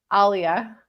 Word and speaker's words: Aliyah: How do you pronounce it? Aliyah. Yeah, that's what I say.